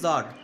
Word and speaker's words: tsar: জার দেখো, জার উচ্চারণটা কি? জার, TSAR, জার is also spelled as, এই দেখো এখানে দেখো, দেখছো তো সিজার, এই যে এখানে দেখো সি আছে, সিজার, এটা উচ্চারণ করে সিজার বলে উচ্চারণ করে, সিজার, জার ওর সিটা উজ্জ্ব থেকে যায়, সিজার।